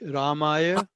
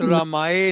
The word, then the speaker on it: रामाय: इसका प्रोनाउंसिएशन भी आप ठीक रखिए, सर्वशक्तिमते परमात्मने श्री श्री रामाय, नॉट रामाय नहीं है, रामाय, द वर्ड इज नॉट रामाय, द वर्ड इज रामाय।